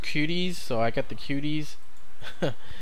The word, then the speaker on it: Kwooty: this one out and it's called I believe it's pronounced cuties so I got the